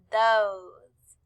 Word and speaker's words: those: not the same colors oh the e is silent so we do not hear it we just hear ohs those and last we have